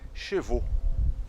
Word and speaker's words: chevaux: Bom, em francês, cabelos é cheveux e cavalos é chevaux. Peraí, você disse a mesma coisa. Não, calma lá. Cabelos, né, no plural, cheveux, termina com EUX. E cavalo, chevaux, termina com AUX. Então, tem uma diferença na pronúncia.